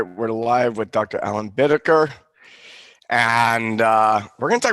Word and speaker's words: Bittaker: Alan Bittaker, and we're going to talk about energy today, energy flow. I'm going to read over your bio just slightly here. Dr. Alan Bittaker is it Bittaker?